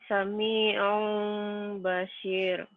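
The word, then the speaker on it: سميعٌ بصير: Sami'un basir dibacanya jadi Sami'un Bashir.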